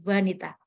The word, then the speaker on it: vanita: Yaitu kata vanita ya, karena bahasa Sanskerta kan pakai VVV ya. Banyak V kemudian di kita diserap menjadi W begitu. Karena dibacanya kan sambil berat gitu, vanita.